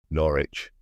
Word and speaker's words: Norwich: Norwich, said Stig. So that's how you pronounce it.